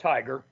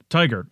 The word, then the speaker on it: TIGHAR: Is how you pronounce it? We call it TIGHAR, like go get them. TIGHAR.